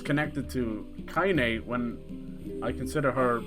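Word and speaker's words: Kainé: uh kanye's i'm not i've said kanye i used to always call her that like an idiot her name is kaine it's spelled k i n e so i used to call it kanye kanye west is in the game but it's not now it's kaine kaine's team it's probably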